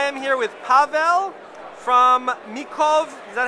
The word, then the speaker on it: Mikov: Hey guys, we're at SHOT Show 2024, and I am here with Pavel from Mikov. Is that how you pronounce it? Yeah, Mikov Knives, and they're a Czech knife company, and